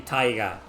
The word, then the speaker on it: Taiga: It's actually Taiga, but they pronounce it as Tiger because it sounds similar, you know.